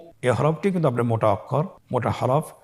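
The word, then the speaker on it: كَ: পরবর্তী হরফটির নাম হলো কাফ এবং লাম। এই দুটি হরফ আমরা হরকত দিয়ে শিখব। আপনারা স্কেল লক্ষ্য করুন এবং আমার সাথে উচ্চারণ করুন। কাফ জবর কা, কাফ জের কি, কা কি, কাফ পেশ কু, কা কি কু।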